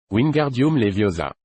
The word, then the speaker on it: Wingardium Leviosa: Wardium Leviosa est prononcé Wingardium Leviosa Wingardium Leviosa.